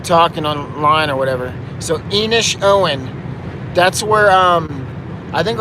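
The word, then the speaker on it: Inishowen: idiot if i'm talking online or whatever so enish owen that's where um i think i already talked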